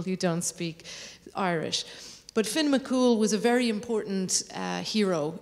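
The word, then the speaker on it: Fionn mac Cumhaill: uses the Roman alphabet so that is Finn McCool as you can see most of the letters in the third word are silent so it's it's quite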